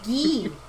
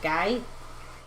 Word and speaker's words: Guy: But it's pronounced Gee, not Guy.